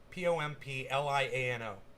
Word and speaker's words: Pompliano: guy's name is anthony pompliano just like it's pronounced p-o-m-p-l-i-a-n-o pompliano anthony january six